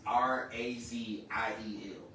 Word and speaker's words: Raziel: Raziel means secret of God or keeper of secrets. How you spell that is R A Z I E L and it's pronounced Raziel.